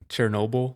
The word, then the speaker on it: Chernobyl: Chernobyl.